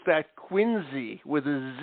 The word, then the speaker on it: Quincy: okay Quincy but if you're from Massachusetts you pronounce that quiny with a z sound quiny okay and that's the standing joke up in New England if you pronounce Quincy Massachusetts as Quincy with a C Sound we know you're from